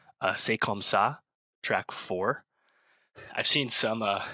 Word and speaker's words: C'est comme ça: I think was it make sure I pronounce this one right. C'est comme ça, track four.